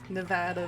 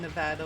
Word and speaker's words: Nevada: Sort of like with the Nevada versus Nevada. It's like people who live in Nevada will get mad if you pronounce it Nevada, but Nevada is the Spanish pronunciation.